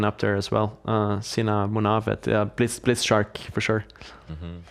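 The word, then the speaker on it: Movahed: Sina Munavet, Blitz Shark for sure. Mm-hmm. Yeah, Muvahed is of course the correct pronunciation. We like to say that he's moving ahead, but he's seen a move ahead.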